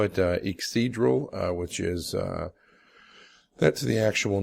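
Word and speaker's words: Yggdrasil: I call it Ixidral, which is that's the actual name of the Norse tree of life, Ixidral. It's spelled Y-G-G-D-R-A-S-I-L, Ixidral wilderness oil.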